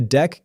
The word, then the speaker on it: deque: We need a sliding window, and the right tool is a dec, pronounced dec.